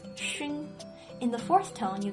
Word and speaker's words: 熏: And xi plus yu plus n makes 熏.